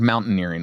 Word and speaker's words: mountaineering: When you hear the word mountaineering, what do you think of? Mountains. Okay. Earrings. Like earrings, like that you. Yeah. Not engineering. Why? It's spelled like engineering, nearing at the end.